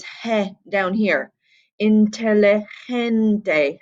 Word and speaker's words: inteligente: Inteligente, gente, gente with a soft G sound, not a intelligente with a hard G sound.